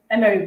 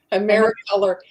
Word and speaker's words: Americolor: Emery brand. Am I saying it right? Americolor.